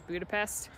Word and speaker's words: Budapest: is all over the B but the true pronunciation is Budapest um people feel like slurring hungarians will pronounce